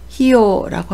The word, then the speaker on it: 費用: 음독은 히입니다. 한국어는 비이지만 일본어는 히라고 읽는 점 주의하시기 바랍니다. 비용을 히요라고 하고요.